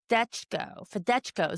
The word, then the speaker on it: Fedechko: So Fedechko. So everything is sounded out like it's spelled.